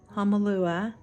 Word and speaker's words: Hahnemühle: It feels awkward saying it because a lot of videos say Hahnemühle. But I'm telling you, I watched a lot of German sites and I got that.